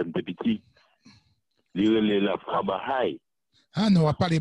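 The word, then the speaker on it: ברא: Frère Philippe, c'est pas Baal. Il dit Baha. B-A, il était précisé, B-A-R-A. Baha. OK, ça se prononce comme ça en hébreu.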